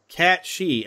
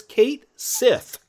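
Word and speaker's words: Cait Sith: And I've heard some people pronounce that character as Cat She. I'm like, why would you call it Cat She when clearly when you look at it, it says Kate Sith.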